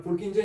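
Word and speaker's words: Purkinje: और पुरकिंजे, स्पेलिंग में भी गलत हो पर पुरकिंजे ही बोला जाता है।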